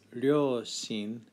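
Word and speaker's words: 両親: side of the word for parents which is pronounced ryoshin i think gives away the kanji so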